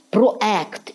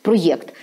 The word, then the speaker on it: проєкт: частина українського суспільства вже навчилася Що правильно проект проєкт тобто дуже дуже важливо